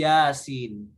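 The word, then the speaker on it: يس: huruf-huruf yang terputus jadi ketika kita baca ayat seperti ini bacanya bukan ya bukan biasa tapi Yasin nah di dalam Alquran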